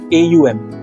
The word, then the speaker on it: Om: Okay, and once you do that, then when you are exhaling, say Om. Now Om, you generally see the spelling as OM in English. Okay, but when you pronounce Om, it should be AUM.